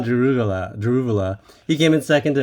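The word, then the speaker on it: Daruvala: I always think it's Drogovic, but it's Jehan Daruvula.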